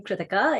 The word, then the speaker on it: Krithika: I'm Krithika. It's pronounced like Ithaca, and I'm sure you'll get the hang of it as we keep talking.